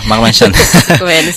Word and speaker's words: Mark Manson: Iya, benar bacanya, Mas. Benar, Mark Manson.